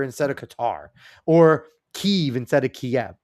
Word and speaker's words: Qatar: I don't care if they tell them to pronounce it that way. That's like when people say uh cutter instead of Qatar or Keev instead of Kiev.